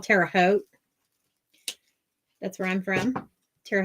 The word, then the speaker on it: Terre Haute: how it's pronounced so they always say yeah Tara Hood I'm like no it's Terre Haute um we are gonna